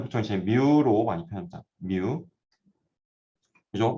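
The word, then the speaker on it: μ: 뮤 그죠? 마치 그 포켓몬스터의 그 뮤랑 이제 발음이 똑같습니다.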